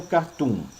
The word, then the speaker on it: cartoon: Um cartoon, a pronúncia é cartoon, tá? Cartoon. Porque se fosse cartoon, teria o acento no A.